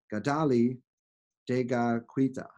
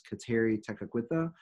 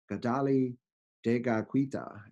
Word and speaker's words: Kateri Tekakwitha: gotelli kadali de qui t'a and so we might pronounce it as Kateri Tekakwitha but kadali de qui t'a is the mohawk pronunciation and I've done my